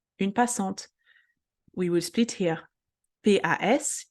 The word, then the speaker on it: passante: together, en, passant, and then T-E, T as a best friend vowel, is get pronounced. Passante, une passante.